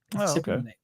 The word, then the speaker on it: cypionate: I got corrected last week that cypionate, but it's phonetically spelled out for me in the read as cypionate. So that's what I'm going to call it. Cypionate.